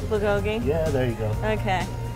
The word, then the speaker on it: bulgogi: And you said it right, bulgogi.